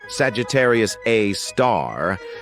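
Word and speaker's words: Sagittarius A*: an exception we've got Sagittarius A which is pronounced Sagittarius A star this space monster is mostly dormant and rarely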